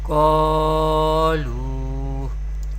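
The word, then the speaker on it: قالوا: Here there is zabar before alif sakin and there is pesh before vaw sakin. Here alif madda is happening here and here is vaw madda is happening here, and we know we pronounce madda letters by stretching up to one alif or two harakat, and here alif is not recite.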